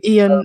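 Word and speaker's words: Ioan: Oh, Ian.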